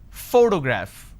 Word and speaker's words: photograph: When I pronounce this particular word, photograph, the correct pronunciation is photograph, which means I am stressing on this particular syllable, which is the first syllable.